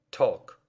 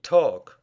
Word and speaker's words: talk: Ток. Говорить. Ток. Call. Звонить. Звать. Call. Ball. Мяч. Ball. Salt. Соль. Salt. Bald. Лысый. Bald. Обратите внимание на слова chalk и talk. В этих словах буква L не читается.